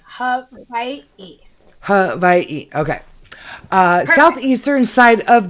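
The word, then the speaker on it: Hawaiʻi: is Hawaii. Hawaii. With like a little apostrophe between the eyes? It's not an apostrophe. It's an okina.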